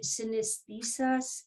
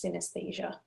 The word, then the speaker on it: synesthesia: wha what is that is synesthesis yeah it's called mirotouch synesthesia synesthesia okay mirror touch and so